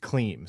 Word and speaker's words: Klim: Okay, so I have seen the Klim Reaper, but it's pronounced Klim, so you have to say the Klim Reaper, which I don't think...